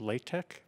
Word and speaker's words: LaTeX: Microsoft Word we're using law tech it's also called pronounced lay tech but it's spelled latex I warn you to